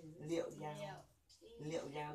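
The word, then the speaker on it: 幺: Nhớ là số 1 nó đọc là giao chứ không đọc là y nữa trong điện thoại.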